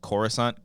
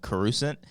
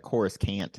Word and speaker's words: Coruscant: The Phantom Menace and he calls Coruscant carusant but that's just because he didn't know how to pronounce it like George Lucas yeah but it's just